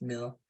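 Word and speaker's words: mille: CPN is cost per mil I think it's and now it's pronounced meal uh it's a Latin for thousands so it's the cost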